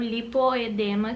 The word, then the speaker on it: lipoedema: Primeiro eu vou explicar pra vocês o que é o lipedema ou lipoedema, que algumas pessoas pronunciam diferente, mas é a mesma coisa, lipoedema, lipedema. Vou explicar o que é o lipedema, que é uma doença da célula de gordura.